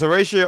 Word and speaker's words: Horacio: dominant uh lead I was surprised at because Horatio is that's how you say his name thank